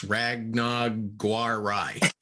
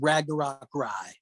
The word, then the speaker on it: Ragnarok Rye: creek's ragnog guar rai you pronounced every single part of that wrong i know the topton creek is the uh distillery and they made a rye whiskey that we're calling ragnarok rye and uh you know